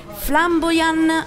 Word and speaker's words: Flambojan: Allora, Flamboyan su Facebook, la J, mi raccomando, la pronunciamo Y, ma si scrive J.